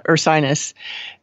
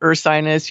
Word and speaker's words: Ursinus: to pronounce uh ursinus there's a funny link to an april fool's thing that they published in 2015 about changing the name of it to bovinus college because that way people would be able to pronounce it and not call it ursinus your sinus your sinus and so forth yeah so dixon this